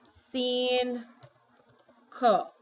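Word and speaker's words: cinco: number five single so what you're actually saying is seen cool okay so that first see sounds like an S and the second see sounds like a k so see whoops next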